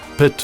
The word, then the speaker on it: pit: Common Scots pronunciations are yin for 1 and twa for 2, fower for 4, pit for put, and more becomes mair, while money means many.